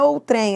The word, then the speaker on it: outrem: Agora cuidado, ou trem, não, não é ou trem. A pronúncia correta não é esse, não é essa, é outrem. Então, ó, a pronúncia é outrem. Ela é uma paroxítona.